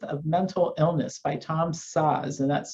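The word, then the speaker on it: Szasz: called the myth of mental illness by tom saws and that's spelled s-z-a-s-z i believe old book older book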